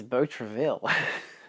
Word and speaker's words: Beau Travail: It's Beau Travail. It's French, so of course it's Beau Travail.